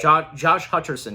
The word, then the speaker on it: Hutcherson: the cast, I did not know a young Josh Hutcherson was in this. I hope I pronounced that name correctly. Josh Hutcherson, yeah, that's correct.